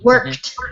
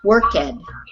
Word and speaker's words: worked: So many people, when they see the ed, they want to pronounce it, even if it's on a word like work, worked, not worked.